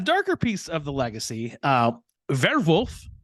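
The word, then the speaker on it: Werwolf: A darker piece of the legacy, Werewolf, which is the German pronunciation, was the code name for one of Hitler's headquarters, which is located in now Ukraine.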